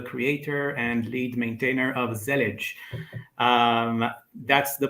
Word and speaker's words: Zellij: uh I'm the Creator and lead maintainer of zelage um that's the pronunciation to the best of my knowledge uh